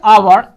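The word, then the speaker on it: hour: একটা হচ্ছে আওয়ার, এইচ ও you word, আওয়ার। এই আওয়ারের আগে কিন্তু এইচ আছে, তাই না? কিন্তু প্রোনাউন্সিয়েশন আমরা যদি আওয়ার আওয়ার, তো তখন আমরা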